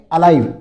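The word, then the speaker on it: alive: इसको एल आई नहीं बोलोगे। क्या बोलोगे? अलाइव।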